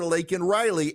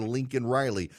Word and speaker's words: Laken Riley: policies put in place, was able to murder Laken Riley. And we now know Joe Biden is more concerned with using the phrase undocumented than he is with mispronouncing Laken Riley's name, calling her Lincoln Riley.